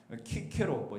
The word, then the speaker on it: 키케로: 그래서 로마의 사상가 키케로, 시세로라고도 발음에 따라 좀 다르겠지만 기원전 한 100년경에 살았던 이 키케로는 이런 말을 했습니다.